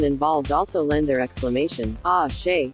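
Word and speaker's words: Àṣẹ: Each person involved also lend their exclamation, ah, she, from the Yoruba language. Ace, spelled with the Yoruba letter, s, shish, is uttered after prayers and incantations.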